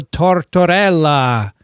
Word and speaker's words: Tortorella: And we can't forget to mention Domenico Tortorella, because I want to say his name.